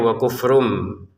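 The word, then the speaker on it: وَكُفْرٌ بِهِ: Nah, wa kufrum bihi di sini asalnya itu wa kufrun. Nah, bertemu ba, maka cara bacanya wa kufrum dengan samar.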